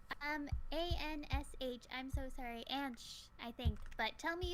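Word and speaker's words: Ansh: what's their name um a-n-s-h i'm so sorry and shh i think but tell me if you want if i pronounced your name wrong and i will try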